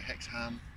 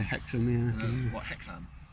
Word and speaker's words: Hexham: and um like everywhere it's like hex ham it's it's no it's actually hectic yeah i've heard some